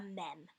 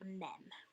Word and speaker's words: mem: Once again, you will pronounce this letter like a mem, like mem.